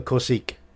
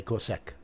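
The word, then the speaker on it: corsesque: that's a cool SEC it's not a corsique I have to say that's a Cossack because you're talking um European for one of these um I believe it's French sort of area um I might be wrong with that but I would say corsek I think corsique's wrong personally I always call these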